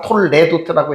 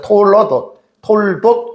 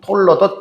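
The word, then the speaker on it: תּוֹלְדוֹת: 쉐와를 묵음으로들 이렇게 발음하는 것이 옳습니다. 근데 책에는 다 톨레도트라고 해가지고 사람들이 쓰는데 이게 묵음이에요. 그래서 톨돗 혹은 톨러돗 이렇게 부르면 됩니다.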